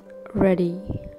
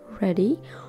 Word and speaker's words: ruddy: The word is called ready. I repeat, guys, the word is called ready. Although the spelling is R-U-D-D-Y, we still pronounce with a single D, like ready, okay?